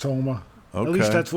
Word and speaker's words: Houma: I think it's pronounced Houma.